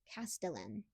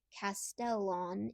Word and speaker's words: Castellan: For the record, the linguistically correct pronunciation would be Castellan. I'm not an expert in surname etymology, so there could be multiple accepted pronunciations. I just happen to think Castellan is unacceptable.